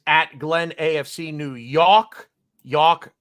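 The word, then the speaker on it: Yalk: Glenn AFC New York York rhymes with walk y a l k not y o r k uh I'm the bearded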